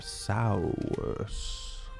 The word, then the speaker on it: Sowurss: I am Sours. I think we'll say Sauron. Okay. You had to spell that, but great.